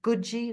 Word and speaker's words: Katsi: And recently she spoke to um this beautiful Mohawk lady uh whose name is Gji. That's how you pronounce it. It's spelled Katsi but it's pronounced Gji. Guji Cook.